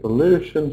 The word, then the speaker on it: pollution: So, like I said, we always stress the syllable before shun. So, pollution, solution, desertification, overpopulation. What can we do about it?